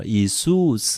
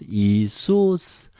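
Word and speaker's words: Ἰησοῦς: Isus. Do you remember O, Epsilon together is a double vowel and another accent, so we pronounce Isus.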